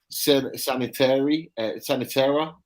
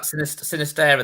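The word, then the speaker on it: Sinisterra: that plays for Feyenoord, and it's Sanitera. I can't pronounce his name right. Is that Sinistera, the one at Feyenoord? Sinistera, that's the one.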